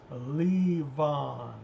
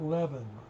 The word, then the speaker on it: Levon: And there is Leon. It's not Levan.